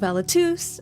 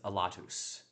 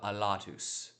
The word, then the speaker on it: Alatus: to put it where you put it almost every time on the second syllable. So you have a lotus and technically in this it's a lotus.